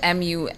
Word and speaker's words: mumpsimus: Your word of the day is spelled M-U-M-P-S-I-M-U-S, spelled M-U-M-P-S-I-M-U-S.